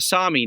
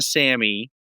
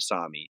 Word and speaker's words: Sami: okay so the the the Sami not the Sammy uh as I was saying earlier you you know you chastised me for mispronouncing it they're called the Sami uh I guess there's